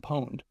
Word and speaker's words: Pwned: Here's another freebie I'll give you, is a thing called a website called Have I Been Pwned, and that's how it's pronounced.